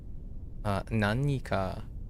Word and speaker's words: 何: Nani is technically pronounced as nani. However, in casual speech, that is often shortened to nan.